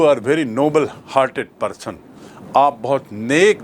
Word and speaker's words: Nobel: पैसे की सबसे ज़्यादा पैसा उस पुरस्कार में मिलता है, उसे कहते हैं नोबेल पुरस्कार, जो एक व्यक्ति के नाम से है, सर अल्फ्रेड नोबेल, और उसकी स्पेलिंग है NOBEL।